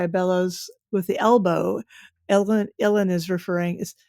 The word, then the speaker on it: uilleann: Uilleann is it's spelled something crazy like Eulalian, Yeah, it's a Gaelic, Right.